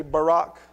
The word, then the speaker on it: Barak: There's a lot of different ways to pronounce it. I say Barak, just because we've gotten used to saying that name in our culture.